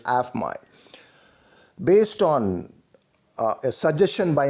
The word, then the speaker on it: AFMOI: This is once again your Prabhu Swaminathan, the founder and the Chief Heart Officer of AFMOI, pronounced as AFMI.